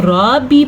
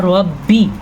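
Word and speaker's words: ربي: اس کو جوڑیں گے تو را زبر با رب، با زیر بی، ربی۔ اگر کوئی اس کو را بی پڑھے گا تو وہ غلط پڑھے گا، تو آپ نے ایسے نہیں پڑھنا، آپ نے پڑھنا ہے ربی، ٹھیک ہے؟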